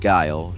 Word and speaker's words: Guile: There could be multiple enemies, or you could bring in Mugman as an assist trophy, like Guile from, and yes, it's pronounced Guile, contrary to what Delta will say, but just